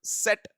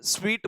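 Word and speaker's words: suite: है चलिए अब बंडल सेट थर्ड ऑप्शन है उसकी उच्चारण suniyega सूटो को सूट नहीं बोलते बेटे स्वीट बोला जाता है और क्लच क्लच तो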